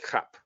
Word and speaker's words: JAP: and they were called CAP, because in Spanish that's how you pronounce the J, as not J, but as J.